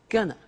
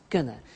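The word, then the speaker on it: gonna: to take the tube now very often when you hear this form you hear a pronunciation like Gunna so they're going to take the tube and that's when we completely contract they are going to and it becomes GNA and often you see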